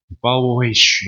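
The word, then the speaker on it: 保惠师: 이게 중국어 보혜사 발음이, 봐야 돼요, 저도. 빠오웨이쉬라고 읽는다고 합니다. 발음을 제가 중국어 하시는 분들에겐 죄송하지만은, 빠오웨이쉬 이렇게 읽는다고 그래요.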